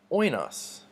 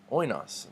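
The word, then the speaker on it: οἶνος: Now, what we see in this word oinos is a smooth breathing mark, so it doesn't get an H, it doesn't get pronounced, but it does tell us that the emphasis goes on the first syllable.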